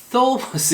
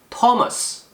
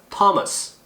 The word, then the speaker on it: Thomas: 스 이렇게 발음하라고 배웠는데 이 사람 이름은 이 T 발음이 나요. 희한하죠. 그래서 Thomas 이렇게 발음하지 마시고 Thomas 그냥 T 발음이 납니다. 해볼까요? Thomas 이렇게 발음하고요.